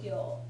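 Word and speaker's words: 行: Okay, the columns that share a consonant or lack of one are called gyo, which is actually written with the same kanji that you know for iku, but it's pronounced gyo.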